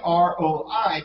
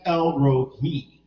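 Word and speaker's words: El Roi: Now, once again, R-O-I, people want to pronounce it Roi, but it's actually El Rohi.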